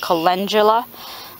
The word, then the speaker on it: calendula: And my however you pronounce it, I pronounce it canadula, but I heard some other people pronounce it calendula.